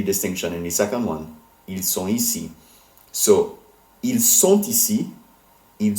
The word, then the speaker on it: ils sont ici: And the reason the T in sont becomes pronounced is because ici starts with a vowel. So it's ils sont ici.